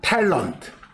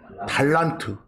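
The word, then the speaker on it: talent: 거기 별표에 T-A-L-E-N-T. 영어 음은 탤런트. 탤런트. 우리 한국 사람들은 탤런트 그런가요? 뭐 그렇게 발음해도 괜찮아요. 탤런트. 탤런트. 영어는 탤런트. 근데 여러분 번역본이나 다른 번역본들 봐도 그 영어 옆에 한국말을 뭐라고 써놨어요? 달란트. 국적 불명이요.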